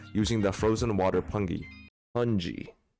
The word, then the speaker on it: pungi: Pungi. Pronounced pungi.